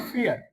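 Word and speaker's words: vier: फियर। फियर जैसे डर होता है ना एफ इ ए आर ये आपने स्पेलिंग देखी होगी इंग्लिश के अंदर। बिल्कुल सेम कन्वर्न्सिएशन होती है।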